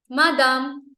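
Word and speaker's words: madame: next word इ buzzer मादाम बादाम पता बादाम जो कि खाने में तने टेस्टी नहीं होते थोड़े टेस्टलेस होते हैं बट बहुत ही हेल्दी होते हैं so that is यू can relate to that and से मादाम ओके बादाम बादाम ओके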